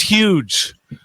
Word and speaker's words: Hugh: Chill, it's pronounced huge. I'll say it, Hugh.